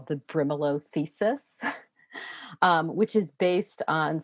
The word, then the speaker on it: Brimelow: I'm not sure if I'm pronouncing Mm-hmm. that name. Brimelow, yeah.